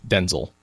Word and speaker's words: Denzel: Denzel as well but I heard him say Denzil so okay I'm gonna try